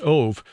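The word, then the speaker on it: אוב: of the Hebrew word ov, O-B, but pronounced ov, which is usually translated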